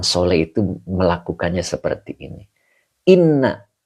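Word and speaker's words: إنّ: Inna ini dibacanya inna, jangan in. Kenapa? Depannya adalah isim. Kalau depannya fi'il dibaca in. Kalau depannya isim maka dibaca inna."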